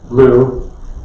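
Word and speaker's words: BLEU: kinds of translation systems it's called Blue although it's spelled b EU stands for bilingual evaluation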